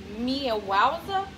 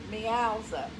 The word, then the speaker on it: Meowza: This top is called Mia Wowza. Is that how you say it? Well, like meow. Wowza? Meowza. Meowza. Meowza.